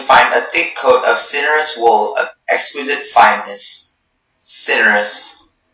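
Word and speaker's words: cinereous: Yes, cinerous. May I have all of the information? Cinerous is the only pronunciation.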